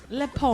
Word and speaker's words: Le Pont: The A is silent in the Le Pont, so it's like Le Pont. Pont de River. It's Le Pont.